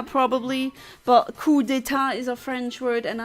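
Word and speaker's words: coup d'état: I know you say coup d'etat probably, but coup d'etat is a French word, and I'm fluent in French, unfortunately, so... yeah, the French don't pronounce the P.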